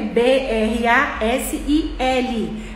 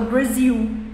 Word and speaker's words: Brasil: da palavra em um Brasil a gente fala que se escreve b r a s i l mas a gente fala Brasil então quando a gente